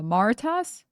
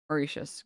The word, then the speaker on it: Mauritius: Oh, it's it's pronounced with an sh. Uh, Mauricius. Is that right? Mauritius.